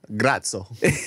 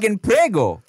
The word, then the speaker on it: Prego: Grazie right dog right but do not say you're welcome huh grazo no it's Prego like the sauce like the sauce and